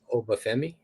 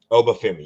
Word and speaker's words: Oba Femi: I don't want to mispronounce his name. Oba Femi. Obami.